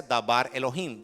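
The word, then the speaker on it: דבר אלהים: Entonces, y se pronuncia dabar Elohim.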